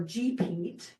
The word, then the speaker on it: GPEAT: As of last February, the Grants Pass Energy Action Team, or GPEAT, which rhymes with three-peat, if you get it,